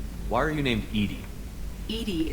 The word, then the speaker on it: EDI: are you named eating IDI is the phonetic pronunciation of EDI that is an acronym for enhanced defense intelligence what do you do